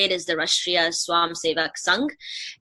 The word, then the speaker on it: Rashtriya Swayamsevak Sangh: So the RSS, which, the correct way to say it is the Rashtriya Swayamsevak Sangh.